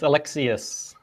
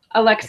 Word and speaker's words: Alexiuc: it's a tricky one yeah it's Alexius Alexus it's got an S sound at the end for some unknown reason all right Alexius